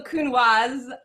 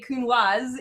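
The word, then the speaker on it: Counoise: a conversation about how i pronounce it uh both ways because i've always said kunwa before but technically as ryan has just informed me it is a kunwas it is a hard s in french thank you very much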